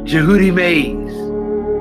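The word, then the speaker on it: Djehutymes: Tehutimase, spelled D J E H U T Y M E S. Let me spell that for you again. Tehutimase, right? The D is almost silent there.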